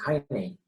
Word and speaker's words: heinei: Si ellos pronuncian, los alemanes, Heine, entonces hay que decir Heinei. Y ya. Si no pronuncian, sino Hein, entonces hay que pensar, ¿qué es lo que agregaron los que latinizaron el nombre? Solo la I. Entonces el alemán, ¿qué pronunciaría? Hein, supongamos, Hein. Entonces, lo latinizado, ¿qué sería? El resto. Entonces el sonido es Heinei.